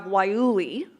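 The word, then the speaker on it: guayule: primary and we have wayuli the g-u-a-y-u-l-e word that looks nothing like it's pronounced or guacamole for those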